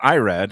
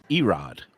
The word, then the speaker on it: Irad: by uh with i irad ortiz it's not irad it's mispronounced erod he rises yeah all right so and then